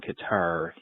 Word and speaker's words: Qatar: Uh regarding Cutter versus Qatar, my brother worked over there for a couple years. He left saying Qatar. He returned saying Cutter.